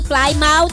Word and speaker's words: Plymouth: Sabi ni Pastor Sani, are you going to Plymouth? Sabi. Yung pala. Ang pronunciation, Plymouth.